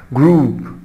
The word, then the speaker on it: group: group. group. group يعني مجموعة. soup. soup يعني شوربة. ولاحظ هنا نفس الصوت الـ OU. الـ OU اللي بتنطق U. group and soup.